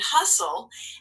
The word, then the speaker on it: hustle: here's the example castle so now you can just add whistle and hustle and go ahead and mark those up because we know that first syllable is closed and the second syllable is going to be consonant l e you can mark across off the e and cross off the t wow so that's all